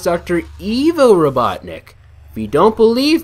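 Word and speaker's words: Ivo: for all these years now so I've always pronounced it Dr IO Robotnik but actually it's supposed to be pronounced Dr Evo Robotnik if you don't believe me here's the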